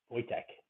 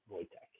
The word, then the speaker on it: Wojtek: Wojciech the Polish war bear. Wojtek is how they pronounce that. Wojtek.